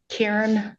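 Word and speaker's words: Caryn: Karen. First name is spelled c a r y n.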